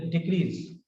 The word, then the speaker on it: decrease: Here, as a verb, desert, desert, desert, desert, desert, desert, desert. This is the difference.